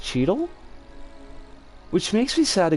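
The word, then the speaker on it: Cheadle: rhythm is played by is it don chilad no that's not right because the l is in the wrong spot cheedle is his name pronounced cheedle which makes me sad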